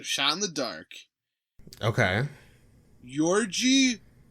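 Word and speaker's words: György: Yorgi Doza. Yorgi. Yeah. How do you spell that?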